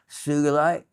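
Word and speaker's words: sugilite: Not maybe not intentional, but I'm using it segue in from the dragon of the uh sugulite with a hard G.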